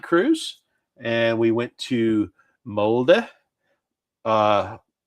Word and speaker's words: Molde: It's like uh M-O-L-D-E. It's like, "Okay, this is a mold town." Yeah, no, it's Molde.